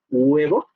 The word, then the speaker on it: huevo: Podemos encontrar la aproximante de huevo, por ejemplo, si ustedes pronuncian huevo, se darán cuenta que nunca dicen huevo, huevo, siempre dicen huevo, como si tuvieran una G al principio, pero no es una G, huevo, huevo, huevo, sino